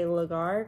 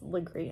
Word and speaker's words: Legare: the Edisto Charleston area, they say Legare, because that's how it's spelled. But then people that are from Edisto, there's this one person that did a podcast, and it was Legree.